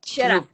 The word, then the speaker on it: Shirreffs: butcher your last name, Sheriffs or Sherriff? Very close to Sheriffs, but Sherriff.